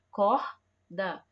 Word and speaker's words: corda: Corda. Na palavra corda, o R está tendo o som forte, certo? Forte, não é brando, é forte.